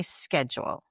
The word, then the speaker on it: schedule: I think this is a Canadian American thing. I say schedule. I don't say schedule. Right. What did you say? I've got pronunciations here, and it says schedule. Really? Schedule. Schedule. Like shed.